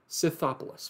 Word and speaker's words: Scythopolis: muddying the witness of Cyril of I hate pronouncing this guy's name. I had to read it out in front of a crowd. Scythopolis.